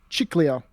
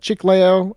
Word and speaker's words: Chiclayo: He became the bishop of Chiclayo. I'm mispronouncing that. Chiclayo.